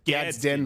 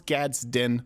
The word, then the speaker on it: Gadsden: if I miss it's really hard to say gadin flag but I'll sometimes say gazden sometimes I'll say gadin but I know it's Gadsden flag you can admonish me in advance it's